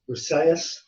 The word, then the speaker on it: Briseis: And it tells the story of the pronunciation I always get wrong, but it's Briseis, Briseis, who is the prize